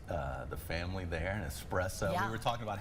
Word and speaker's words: espresso: And espresso, we were talking about how do you say espresso? Do you say x espresso or espresso? Espresso. Yes. With s and it's just a little shot of caffeine.